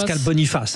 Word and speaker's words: Pascal Boniface: Pascal Boniface, hein, bien sûr. On va le prononcer à la française hein, puisque Pascal est français bien sûr.